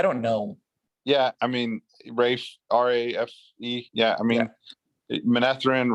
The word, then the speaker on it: Rafe: And today, Rafe Judkins, who's the showrunner for the show, he did It's Rafe. Is that how you say it? I don't know. Yeah, I mean, Rafe, R-A-F-E.